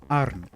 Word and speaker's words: qarn: But Maltese lost that sound. So it's pronounced as a glottal stop, like in the middle of uh-oh in English.